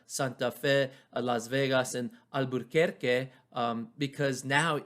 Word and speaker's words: Albuquerque: around the 1860s that we lose our r in albuquerque it used to be albuquerque and we still say it like that in spanish my parents i always